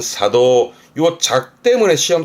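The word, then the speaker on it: 作動: 작동 발음은 사도.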